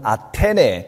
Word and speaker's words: 아테네: 밑에 있는 아대n으로 갑니다 아대에는 지금 발음으로는 아테네 그리스도에서도 아테네를 말하는 겁니다